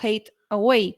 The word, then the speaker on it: Hathaway: la mujer de Shakespeare se apellidaba hathaway pero se pronunciaría en la época algo así como hate away que es el odio